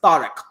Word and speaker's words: Tariq: next pick and i'm devastated to see him mispronounce his own name but it's tariq and it means warhammer the powder the breaker